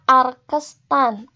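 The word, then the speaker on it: arctan: Ini pangkat -1, ini dibacanya arkestan.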